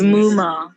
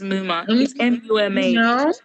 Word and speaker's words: Muma: hard that's problematic it's just too hard to pronounce my name is muma my name is mummy people call me muma mom like are you